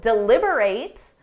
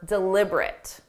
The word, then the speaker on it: deliberate: How do you pronounce this word? They need to deliberate on whether her actions were deliberate.